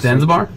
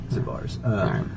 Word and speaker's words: Zabar's: It's a pretty famous grocery store, but like she's Zanzibar. No, it's Zabar. Zabar's.